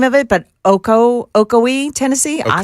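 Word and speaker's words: Ocoee: Um he was in I don't know how to say the name of it but Oko Okoi Tennessee. Okoi.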